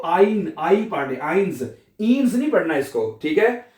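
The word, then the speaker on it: eins: इकट्ठा आएगा वहां पे आपने आई की आवाज प्रोनाउंस करनी है। इसी तरह एक लफज़ है आइंस एक यानी कि आइन इसको हमने आई पढ़ रहे हैं।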